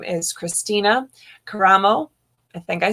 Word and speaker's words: Karamo: sure that i did not mess up the pronunciation of your last name again yes i'm christina caramo and i'm the republican candidate for michigan secretary